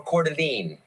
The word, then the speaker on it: Coeur d'Alene: Is it pronounced Coeur d'Alene or Coeur d'Alene?